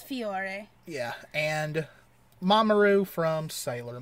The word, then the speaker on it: Fiore: next one is from sailor moon and you pronounce uh it's fiore yeah and mamaroo from sailor moon now okay